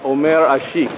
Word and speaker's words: Omer Asik: Turkish bucko oh I like that all right om Asik did I say it right yes all right